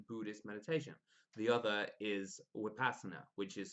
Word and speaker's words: Vipassana: core disciplines in buddhist meditation the other is upasana which is spelled vipassana but pronounced with passana i've researched both these techniques for a long